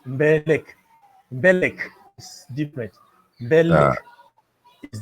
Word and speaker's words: Mbeleck: See, when you see the name, at least us English speakers, we want to pronounce the M in Mbeleck. And so we would say Mbeleck, and that's not how you say it.